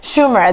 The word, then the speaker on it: Schumer: So there's a film coming out that's called Trainwreck with Amy, I can't pronounce her last name, is Schumer? I'll get it. Schumer. There we go.